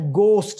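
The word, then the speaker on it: ghost: जी उसके बाद है गोस्ट इसमें एच साइलेंट है गोस्ट डू यू बिलीव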